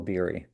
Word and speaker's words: Beery: So, in in uh in America, I go by Biri and in Israel my my actual name is Berry.